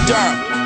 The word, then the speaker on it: Durham: It's Durham, the H is silent, the A too.